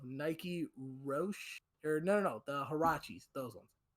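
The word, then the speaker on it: Huarache: Roche or no, the Hirachis, those ones. I think I'm saying the name right. Sean, help me out. Is that how you It's pronounce it? Arachi. It's Arachi.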